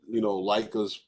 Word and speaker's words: Leica: I didn't even know how to pronounce it until my boy Corey had told me. Leica is the Aberdeen Proving Ground.